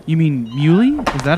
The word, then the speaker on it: Muhly: genius Protegé sound surgeon his name is Nico mold how do you say it is that right you mean mu is that how you pronounce it hello my name